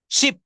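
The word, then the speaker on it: ship: এস এইচ আই পি এটার উচ্চারণ একটু দ্রুত বলতে হবে শিপ শিপ শিপ মানে হচ্ছে জাহাজ শিপ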